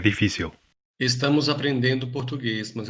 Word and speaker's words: difícil: In this word, you can hear the Brazilian G sound at the beginning, while in the European word it's D. You can also hear the Brazilian L as it's pronounced at the end of a word or syllable, like w.